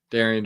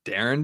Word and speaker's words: Darian DeVries: Darian DeVries. I heard it's Darren DeVries, not It's Darian. Darren. Darren.